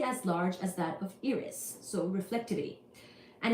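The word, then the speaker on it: Eris: Tio are you ready this was about Iris e r i s or Aris however you say that word now we will talk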